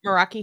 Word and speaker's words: Meraki: But of course, like you said, Meraki, is it Meraki? Mm-hmm. You pronounce it Meraki hammock, so that's exciting.